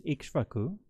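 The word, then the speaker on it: Ikṣvāku: the solar lineage was King Okaka. This is the Pali pronunciation. The Sanskrit pronunciation is Ikshvaku, and Ikshvaku is derived from the word for sugar or sugar cane.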